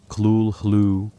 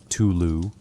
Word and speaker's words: Cthulhu: Lovecraft himself offered multiple pronunciations in letters to correspondents. Klul-hlu, Tulu, Klulu, suggesting that no human phonetic system could accurately reproduce the name.